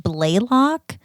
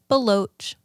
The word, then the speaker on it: Baloch: had a teacher in middle school who said blaylock and i was like where are you getting the other l like that's real you really didn't even try there um but yeah but it's baloch baloch my last name is pronounced how not